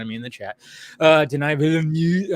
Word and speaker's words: Denis Villeneuve: Denis Villeneuve. I always say, like, Denis Villeneuve. Yeah, I know. I'm like, Dennis?